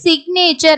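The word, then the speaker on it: signature: so example பாருங்க magnet முன்னாடி சைன் என்ற வேர்ட் பார்த்தோம் அங்க வந்து ஜி சைலெண்ட்டா இருந்தது இதுவே சிக்னேச்சர் அப்படின்ற வேர்டுல உங்களுக்கு ஜிக்கு நம்ம சவுண்ட் குடுக்குறோம்னு சொல்லிருந்தோம் அதுக்கான ரீசன் என்னது இந்த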